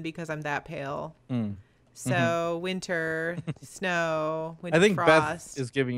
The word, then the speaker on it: Wyntr: I just changed it so it it still pronounced as winter but yeah doesn't you know it's Miss right